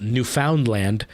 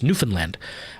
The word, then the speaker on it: Newfoundland: when they find out it's not Newfoundland that it's Newfoundland um and I came